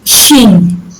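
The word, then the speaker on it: Chine: So this is Sheen. Shin. Sheen. CH Okay, is Shin.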